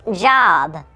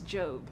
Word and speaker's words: Job: It's pronounced Job. I'm pretty sure it's Job.